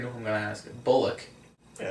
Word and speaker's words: Bullock: no it's surprising um i'm gonna pronounce his name wrong but you already know who i'm gonna ask bullock yeah it's buller it's bullock i keep thinking cool pollock they're not like